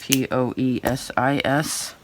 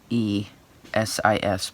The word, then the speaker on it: poiesis: Poesis. I believe that's how you say it. Poesis. Poiesis, pardon me.